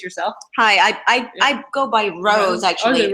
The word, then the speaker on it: Roz: Hi, I go by Rose, actually. Rose, I pronounce it Rose, but it's spelled as Roz.